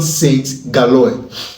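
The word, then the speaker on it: Saint-Gilloise: USG, let me pronounce it the way the French people will pronounce it. Union Saint Galoy.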